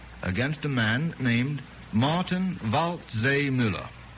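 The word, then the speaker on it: Waldseemüller: martin vault zay miller martin vault zay miller hard one by golly i think he got himself uh christopher columbus is very easy now the other name about miller is spelled w-a-l-d oh i know all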